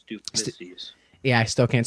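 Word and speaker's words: Du Plessis: Strickland, and that's one of the points where Plissis, God, I gotta say his fucking name correctly. How do you say it one more time? Duplessis.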